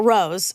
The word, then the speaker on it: Roz: But there's like a accent on the O, so I think that's what. Oh, that's what makes That it gets the us to long Rose.